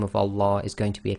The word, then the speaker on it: Allah: a dhamma, and then we pronounce the Lam of Allah as tafkhim, which it gives you the sound La.